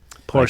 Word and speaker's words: Porsche: Porsche.